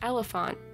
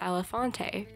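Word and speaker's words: Elephante: Elephant, which is how you pronounce E-L-E-P-H-A-N-T-E. which looks like it says Elefante, correct? Yeah, no, it's not apparently, because Neopets hates me as a person.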